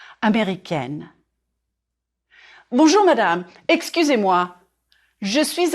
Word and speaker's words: américain: And then the adjective, américain or américaine. If you are a man, je suis américain, américain. 4 syllables. Américain. Drop your jaw on the final nasal sound.